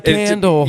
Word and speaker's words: Kyndal: My name is Kendall and that Kindle is K Y N D A L. If you're ever wondering how to pronounce it, just think electronic book and that's me.